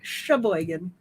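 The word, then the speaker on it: Cheboygan: Yeah, but Sheboygan in Michigan is spelled with a C. C-H-E Boygan. Sheboygan. There's also Toppinabee.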